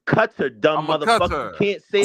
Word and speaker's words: Qatar: It's a long A.